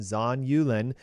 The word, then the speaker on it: zonulin: called zonulin and it's a little tough to pronounce but z-o-n-u-l-i-n zon yulin and it is a protein that when in